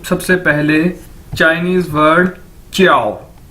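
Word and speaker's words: 叫: आपने पहले भी देखा है कि जे को हम चे के तौर पर इसको प्रोनाउंस करते हैं, यानी जे चाइनीज के अंदर चे के तौर पर प्रोनाउंस किया जाता है, बोला जाता है। तो JIAO ये चाइनीज वर्ड है और इसको कैसे बोलेंगे? च्याओ।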